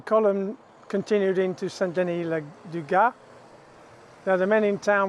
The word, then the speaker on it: Gast: Now here just north of StDenis le Gast, looks like Gast but it's pronounced Gast, the headquarters of the 347th Armoured was placed.